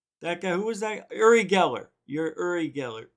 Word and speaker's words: Uri Geller: do this and that guy who was that uri geller you're uri geller erie giller as johnny carson would say his name uri